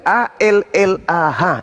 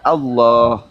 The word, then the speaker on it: Allah: Begitu juga a l a h itu adalah hak mutlak milik umat Islam. Kamu aja yang memperbodoh diri membacanya alah. Padahal kaidah membacanya adalah Allah.